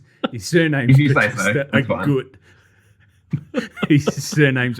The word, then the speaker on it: Agut: His surname's Batista Agut. His surname's Agut. Oh, so it's not Augusta. No.